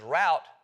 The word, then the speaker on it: route: Or, I can pronounce it as route, so as to rhyme with about.